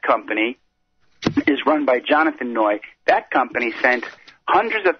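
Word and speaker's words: Neu: Those 2 scrap metal yards were Hugo Noy, Noy is spelled N-E-U, and the other one was Metal Management.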